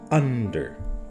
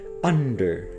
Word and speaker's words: under: the awkward syllable it's under why because we are supposed to read the word under and the accent is on the firsts syllable under and what did